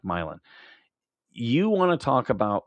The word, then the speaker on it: Milan: It's spelled like Milan, but they they they pronounce it like Milan.